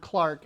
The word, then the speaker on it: Clerk: You pronounce that word Clark if you're Scottish.